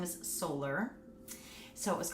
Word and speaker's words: Soler: It sounds like a solar system.